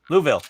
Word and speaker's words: Louisville: it does I'll just reroute Louisville it's it's like Whoville well I live in